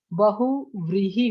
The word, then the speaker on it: बहुव्रीहि: बहुव्रीहि होता है, व होता है।